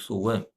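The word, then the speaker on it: 素问: Chinese pronunciation is Su Wen, and miraculous pivot.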